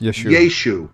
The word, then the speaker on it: Yeshu: Well, in the Aramaic of that day, the ion that's on the end of a word was dropped, and even if it was spelled with no vowels, Yud, Shin, Vav, Ayin, it would have been pronounced Yeshu.